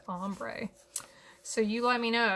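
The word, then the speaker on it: ombré: I always want to say ombre. If I ever say ombre, just be like, Anna, what are you talking about? It's pronounced ombre.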